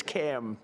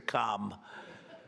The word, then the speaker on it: Kamala: It's Cam, right? Cam as opposed to Com."